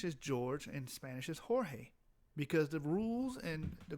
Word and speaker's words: Jorge: you have to say Jorge because the G has to be pronounced like a h the H so it